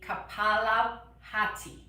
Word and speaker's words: kapalabhati: i would like to teach you is the kapalabhati is how it's pronounced so basically um and i also this